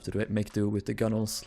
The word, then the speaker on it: gunwale: I think it's pronounced gunnels for some reason.